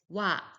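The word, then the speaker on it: は: For example, noto erebētā kādo When used as a subject particle, ha is pronounced as wa.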